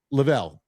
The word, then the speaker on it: Level: Lavel. L E V E L, right? It's like level but Lavel.